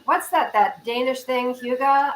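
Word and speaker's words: hygge: that that Danish thing hyuga I'm so into that I read a book about it it's h-y-g-g-e another thing that's not pronounced the way it's spelled and I said oh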